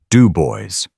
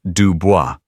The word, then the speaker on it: Dubois: Dubois, she pronounced it crudely. Do boys. It is Dubois. Anelise corrected gently. A lifetime of such corrections, making the words automatic. Like the French.